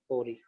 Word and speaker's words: ori: मान चलो यहाँ पे कुछ सीक्वेंसेस था, इसको हम प्रोनाउंस करेंगे ओरी, ORI, ठीक है।